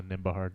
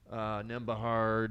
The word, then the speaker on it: Nembhard: Yeah, now you're in on the Nembhard. I love it. Mm-hmm. No silent B anymore, boys. We will not be silent. Nembhard, yep.